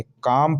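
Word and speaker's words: calm: तो इसी प्रकार सी ए एल एम, बल्कि इसे काल में नहीं पढ़ेंगे, काम पढ़ेंगे, क्योंकि एम से पहले एल है तो साइलेंट है।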